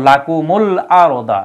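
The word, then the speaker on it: لَكُمُ الْأَرْضَ: বিহীন আলিফ আছে এজন্য উচ্চারণ মিলানোর জন্য এই জায়গায় জজমের পরিবর্তে পেশ দেওয়া হয়েছে যাতে করে উচ্চারণটা মিলে উচ্চারণটা পরেরটার সাথে সংযুক্ত করা যায় যেমন লাকুমুল আরদা এই শব্দটা মিলছে যদি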